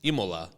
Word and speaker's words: Imola: Imola. It doesn't look like when you read it. Like the way they print it, doesn't...